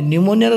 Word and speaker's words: pneumonia: से रोग न्यूमोनिया कहते न्यूमोनिया स्पेलिंग पी रु आरंभ पिले न्यूमोनिया स्पेलिंग पी रु आरंभ ए न्यूमोनिया वर्ड रे पी हूँ साइलेंट लेटर न्यूमोनिया रे पी हूँ